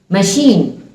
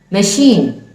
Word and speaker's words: machine: Without s and h, some letters can compel us to create this sound. See these examples. Machine, machine, machine. It should not be said machine.